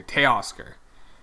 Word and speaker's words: Teoscar: T-A-Y, it's like pronounced, you guys were saying T-A-Y Oscar. Teoscar.